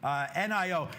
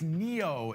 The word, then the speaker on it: NIO: NIO. Yeah, it's Neo is the company name, how you pronounce it.